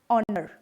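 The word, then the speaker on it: honor: French में एच जो है वो मोस्टली साइलेंट रखा जाता है, जैसे एयर, ऑनेस्ट, आर, ऑनर, इनमें एच जो है वो साइलेंट है।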